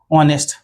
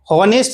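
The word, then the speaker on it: honest: यदि हमें ऑनेस्ट लिखा हुआ मिल जाए ऑनेस्ट तो इसके साथ किसका प्रयोग करेंगे?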